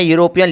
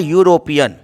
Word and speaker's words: European: Example देखिए, मैं यूरोपियन लिख रहा हूँ, EUROPEAN, इसका उच्चारण होता है यूरोपियन, यूरोपियन। जहाँ कि आप देख सकते हैं कि यूरोपियन का पहला लेटर य से स्टार्ट हो रहा है और यर लब आता